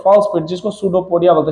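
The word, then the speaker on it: स्यूडोपोडिया: Pseudopodia. अभी यहां पे फूड को घेर रहा है तो इसको देख लो सूडोपोडिया बोला है। पी साइलेंट होता है।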